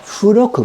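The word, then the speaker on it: 付録: Oh, Furoku. Bu. It's bu, but pronounced fu. Okay. Okay, Furoku.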